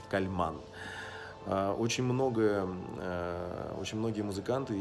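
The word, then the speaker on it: Kálmán: его называют, Имре Кальман, но вообще по-венгерски считается, что ударение должно быть на Кальман.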